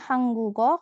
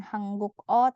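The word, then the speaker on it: 한국어: ya yang mana hangguk Jadi bacanya hanggugo kalau ketemu bentuk vokal Jadi bukan hangguk o tapi hanggugo Kong muon ketemu sama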